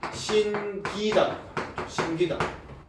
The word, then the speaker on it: 신기다: 이때는 신기다 된소리 발음하지 않는다 이거죠. 그래서 그런 얘기를 하고 있는 게 경음화.